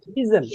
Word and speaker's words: isn't: এস এর উচ্চারণটা জেড এর মতো হবে।